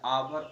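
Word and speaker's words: hour: जब किसी वर्ड में ए साइलेंट होते हैं, जैसे आवर ऑनेस्ट.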